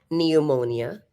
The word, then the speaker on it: pneumonia: Sabi ko na yun kanina, guys, that there are spellings or there are certain pronunciations where the P is omitted but is part of the spelling. This is one of those times, no?